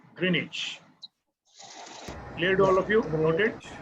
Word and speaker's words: Greenwich: time and continue w-i-c-h greenwich okay but the w is silent there so we call it greenwich cleared all of you